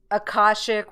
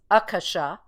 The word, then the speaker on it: Akasha: of the new agers call it uh akashic which they're mispronouncing it's akasha and uh it was